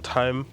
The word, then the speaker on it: thyme: Oh, also I've infused some thyme with the butter. That's how it's pronounced. I used to pronounce it as thyme. No, it's thyme. It's thyme.